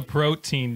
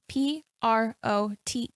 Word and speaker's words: protean: Who is the protein demon? What is that? Is he swole? Wait, you actually said protein, yes. Right? But it's spelled differently. It's P-R-O-T-E-A-N. Okay. I think you mean protean? Protean.